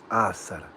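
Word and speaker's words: Asr: Assa. That's the late afternoon prayer. That's the third prayer of the day. Did I Did I pronounce that one right? Assara.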